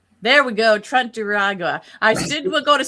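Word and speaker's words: Tren de Aragua: Trump Trent Trend Deiagua. There we go. Trent Duragua.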